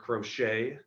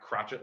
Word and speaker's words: Crochet: because we do have garrett crochet so that's pronounced not crotchet like i thought uh we still got